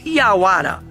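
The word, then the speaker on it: yaguara: o Jaguar é uma palavra de origem tupi-guarani e é pronunciado como iauara e pode ser traduzida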